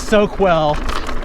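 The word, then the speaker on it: Soquel: the english language yes let's put a q u in that and pronounce it with a k sound it's probably spanish then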